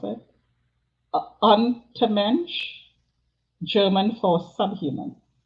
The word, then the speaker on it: Untermensch: not going to, well, maybe I'll try to pronounce it. Untermensch, German for subhuman. Untermensch.